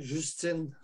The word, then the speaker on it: Justin: Puis on récolte un premier ministre comme Justin Trudeau qui appuie tout ça aussi, là. Oh, évidemment, Justine, il est pour... Je le prononce en français, Justine.